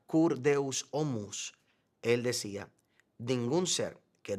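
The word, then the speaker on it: Cur Deus Homo: Como señala Anselmo en su clásica obra que se pronuncia kurdeus omus, él decía, "Ningún ser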